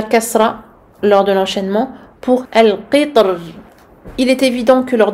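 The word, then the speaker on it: القطر: On voit ici dans ce paragraphe que l'imam Ibn al-Jazari a fait le choix de prononcer de manière emphatique le ra dans misr. Misr. Et a choisi de prononcer le ra ici de manière amincie dans le mot al-qitr.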